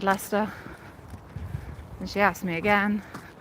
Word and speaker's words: Leicester: wasn't enunciating it because I'd said Lester with a Lester accent because Lester is probably the most Lester thing you can say, right?